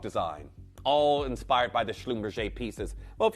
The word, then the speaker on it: Schlumberger: And that is the genius of Jean Schlumberger. Not Schlumberger, as a lot of people often pronounce it, but Jean Schlumberger.